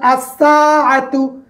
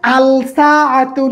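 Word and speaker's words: الساعة: তাহলে হরফুস শামসিয়া দেখলাম, যেমন আসসাআতু, এখানে আলসাআতু নয়, কি হয়েছে? আসসাআতু। আসসাআতু লামের উচ্চারণ নাই।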